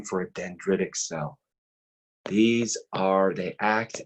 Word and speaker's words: dendritic: e d e and D are ITIC it's pronounced dendritic dendritic cells they actually are derived from the